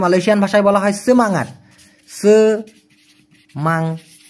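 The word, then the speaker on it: semangat: সেমাঙাট উচ্চারণটা হবে সেমাঙাট, সেমাঙাট।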